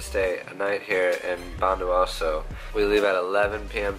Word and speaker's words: Bondowoso: Just got off our bus in Probolinggo and now we're going to bus station to go to Bondowoso. How do you say it? Bondowoso.